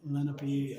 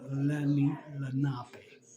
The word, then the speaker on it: Lenape: Some people say it Lenape and Lenape, but it's Lenape. Is the proper pronunciation from what I was told at 2 locations already.